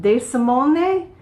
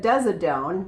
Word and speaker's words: De Simone: probably butcher the name, De Simone. I thought it said Desidone, but that's actually an M, not a D in the middle there.